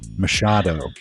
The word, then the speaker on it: Machado: And I want to pronounce your name correctly. Mashado.